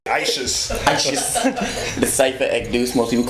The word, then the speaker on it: Ixous: Well, I'm Cypha, and those that try to pronounce the second part is Ekdous, IXOUS, not Exus or anything like that. Yeah, I try. I say Ishus.